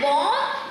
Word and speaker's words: bomb: And bomb, it rhymes with mom.